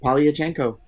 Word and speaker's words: Polyachenko: It's exactly how it's spelled. Polyachenko.